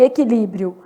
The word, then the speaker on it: equilíbrio: Na palavra e, que, não falo qui, né? Então, e, que, li, brio. Olha o que aconteceu em equilíbrio. Eu tenho um dígrafo aqui, né? E tenho um ditongo aqui no finalzinho. Então, o meu U é nulo, equilíbrio, beleza?